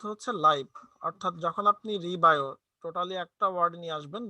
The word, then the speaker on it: রিবায়ো: তো আমাদের প্রোডাক্টের নামকরণটা যদি আমরা একটু খেয়াল করি তাহলে রিবায়ো, হ্যাঁ এখানে দুইটা সিলেবল আমরা উচ্চারণ করব, একটা রি আর একটা হচ্ছে বায়ো।